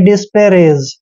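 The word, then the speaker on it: disparage: ए जी ई दोस्तों डी का उच्चारण ड करते हैं आई को ई की मात्रा पढ़ना है और एस का उच्चारण श करेंगे डिश पी का उच्चारण प करेंगे ए को ए की मात्रा पढ़ते हैं और आर को फिर से र पढ़ना है ए को ए की मात्रा पढ़ते हैं जी का उच्चारण ज करते हैं यानी कि डिस्पैरेज दोस्तों डिस्पैरेज होता है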